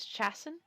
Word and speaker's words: Chasen: His name is Chasen. Jason. Chasen. That's how you pronounce the last name of one of my old professors from college.